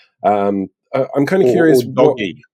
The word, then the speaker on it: DOGE: yeah um it it's how does the G sound in government yeah sounds like a hard G so it would be doggy but you can't tell